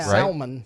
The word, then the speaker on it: salmon: Um like salmon. You know, you don't really say the L. Yeah, salmon.